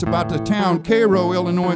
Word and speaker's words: Cairo: it's about the town Cairo Illinois spell Cairo but pronounce Cairo the town was vastly